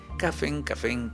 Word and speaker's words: Cafén: preguntaba a él, oye, ¿cómo dicen café en náhuatl? Pues café, o sea, cafén, ¿no? Así. Ok. El café es una palabra compuesta, entonces finalmente una N más, ¿no? Ajá. Pero así la pronuncian ellos.